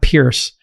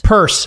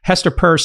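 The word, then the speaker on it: Peirce: It's not Pierce. Um, you can't pronounce the word Pierce. Purse.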